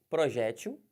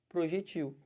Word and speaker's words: projétil: pode usar qualquer um aqui ó projétil abala né a munição ou projectil os dois estão corretos um projétil ou projectil